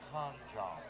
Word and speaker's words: Can Jam: By the way, it is Can Jam with a K, and it's pronounced Con Jam.